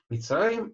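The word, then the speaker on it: מצרים: Мицраим – это Египет. Так, вот буква цади, она имеет огласовку шева, поэтому читается она Мицраим, Мицраим, так.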